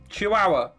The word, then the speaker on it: Chihuahua: small dog a what say it again Chihuahua chihuaha yeah that's how it's pronounced H you're [ __